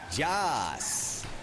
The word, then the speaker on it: Jas: Casper Connor Cookie, and I was informed by this player that it's pronounced Jas. It's just like Yas, but with a J.